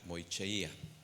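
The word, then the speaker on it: μοιχεία: Y mira, la palabra adulterio viene de la palabra griega moicheia. Es la pronunciación, recuerda.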